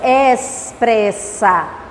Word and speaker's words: expressa: Olha a pronúncia. Expressa. Por que tem som de S? Porque esse X aqui vem antes do P.